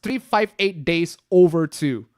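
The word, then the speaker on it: 358/2 Days: It's 358-2, but it's actually pronounced 358 days over two.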